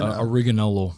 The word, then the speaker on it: Ariganello: So Michael, and how do you pronounce the last name again? Ariganello. Ariganello, right?